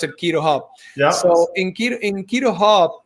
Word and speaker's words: QuiroHub: to to quito hub it's not cairo because it's not c-h-i is is uh that's why we pronounce it quito hub yeah so in keto